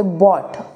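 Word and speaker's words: bought: टी तर बॉट आता याचा साऊंड आपण म्हणतोय बॉट म्हणजेच काय तर यामध्ये बघा तुम्ही या शब्दाचा साऊंड आपण फोनिकली तर अजिबात वाचायचं नाहीये असे काही पॅटर्न आहेत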